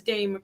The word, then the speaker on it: Dame: It's Dame, correct, Dame? I want to say it correctly.